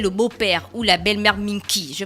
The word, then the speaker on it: Minki: Chez les femmes, on appelle le beau-père ou la belle-mère Minki. Je prononce bien la fraîche.